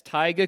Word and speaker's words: taiga: work for taiga coolers that's right and that's taiga coolers is spelled ta IgA and I'm always jealous when